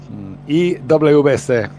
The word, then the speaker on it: IWC: IWC. The IWC? Okay. The confusing thing in Spanish is I is pronounced as E. Yeah. EWC.